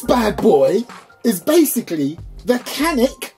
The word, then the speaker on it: Canik: boy is basically the canik i think it's channic i think that's the proper way to say it even though in my part of the world that is canik but chatic anyway um so